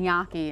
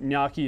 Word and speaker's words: gnocchi: I kept saying gnocchi, and I was corrected. It's a gnocchi. Well, you know what? There's a couple ways of saying it, and gnocchi is one of them.